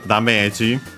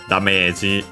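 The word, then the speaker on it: ダメージ: And yeah, as I should have pronounced it correctly, it has a different accent in Japanese, so be careful, yeah, on teme. So yeah, Dameji instead of damage.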